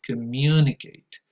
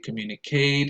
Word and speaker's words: communicate: in my experience are mispronounced, especially in terms of stress allocation.